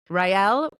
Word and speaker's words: Raele: Raele, pronounced Raele, helps clients become powerful